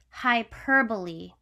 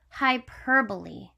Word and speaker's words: hyperbole: say it with me hyperbole again hyperbole okay hi like hello hi hyperbole and if